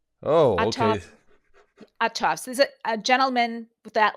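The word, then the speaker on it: Uhthoff's: I'll spell it for you. Uhthoffs apostrophe s. Oh, Autof okay. Autoffs.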